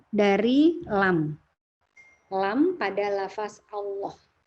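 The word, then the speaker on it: الله: Lam pada lafaz Allah. Lam jalalah dibaca tebal. Lam jalalah itu lam pada lafaz Allah ya. Dibaca tebal ketika di awal kalimat, ketika didahului fathah, dan ketika didahului dhammah.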